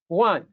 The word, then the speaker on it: Juan: Like in Spanish, it's Juan, almost like an H at the beginning.